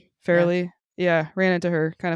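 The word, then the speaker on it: Farrelly: How's that how you pronounce her last name? Fairley.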